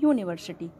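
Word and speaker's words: university: यहाँ पर first letter जो है इंग्लिश का ववल है, लेकिन इसका प्रोनाउंसिएशन करने पर इसे हम पढ़ते हैं यूनिवर्सिटी। मीन्स यह हिंदी का व्यंजन है, तो यहाँ पर हम किसका यूज करेंगे?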